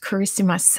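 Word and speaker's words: Kiritimati: be in the chat it's spelled i believe like this but it's pronounced christmas in the language it's something like that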